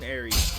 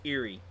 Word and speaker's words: Eri: a tight bond between Eri. Eerie. I keep mispronouncing her this entire time. I believe it's pronounced Eerie. And I pronounce it Eri. I mean, I guess it could be interchangeable.